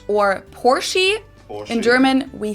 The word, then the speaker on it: Porsche: heard Americans pronounce it Porsche or pore in German we say por so there's like this short a sound in the end por it was founded